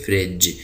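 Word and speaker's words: fridge: उसको कहते हैं प्रिंटर फ्रिज यहां पर जो डी है ये साइलेंट है तो इसको हम पढ़ेंगे फ्रिज जी के बाद दोबारा ई आ गया तो इसकी आवाज हमने जीम निकाली है फ्रिज बुक लैंप ले ड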